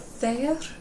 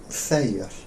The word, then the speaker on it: Þeir: Þeir. Yeah? Þeir. Yeah, þeir. Þeir. It's easy to make it kind of two syllables, þeir, but no, it's just þeir.